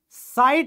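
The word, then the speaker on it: sight: होगा जैसे यहां पर तो यह साइट बनेगा ना की सीट नहीं बनेगा तो साइलेंट का मतलब यह नहीं है की आप बिल्कुल इसको बुला दो ठीक है इसमें एक जो वॉवेल साउंड है ना वो थॉन्ग रहता है लेकिन आपको सिर्फ इतना याद रखना है की जी के साउंड नहीं आएगी ह की साउंड नहीं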